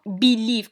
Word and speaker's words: belief: بليك after the B, this is not belief or belief. It is belief. And here is choix. والchoix يجي unstressed. ما نديروش stress عند choix. Okay, so it is stressed in the second syllable because the first syllable has a schwa and the schwa is unstressed.